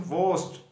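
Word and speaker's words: worst: Quietly inferior, bad, वोस्ट, ये are silent होता है इसमें, वोस्ट।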